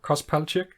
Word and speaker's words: Kos Palchyk: is that um somewhat correct i've pronounced it pronouncing your name uh sorry uh cos pelject yeah yeah okay it's about right because you